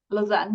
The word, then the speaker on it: Lausanne: Lausanne, yeah.